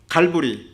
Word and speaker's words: 갈보리: 해골이라 하는 곳에 이르러, 해골은 골고다, 갈보리 같은 말입니다. 골고다는 히브리어 발음이고 갈보리는 헬라어 발음입니다.